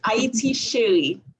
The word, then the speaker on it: Haiti Chérie: This one here is called Haiti Sherry. Haiti, my love. Did I say it right? Yes, it's Haiti Sherry.